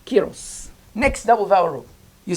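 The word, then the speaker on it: ⲕⲁⲓⲣⲟⲥ: Alpha and iota together make an E sound because this is Greek noun. Rho makes an R, omicron makes an O, Sima makes an S. Kyros.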